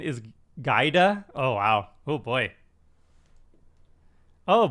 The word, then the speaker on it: Giada: but she also has another ability um says pronunciation is gaida oh wow oh boy oh boy that's not